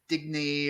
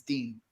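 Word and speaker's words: Digne: It's not Digny or Digna or Dina. It's Dean.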